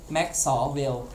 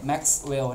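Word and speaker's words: Maxwell: ชื่อ ว่า มิสเต แมว ออก เสียง ให้ ถูก ต ครับ แม็ส เวล ไม่ ใช่ แม็ เลล นะ ครับ เค้า บอก ว่า 1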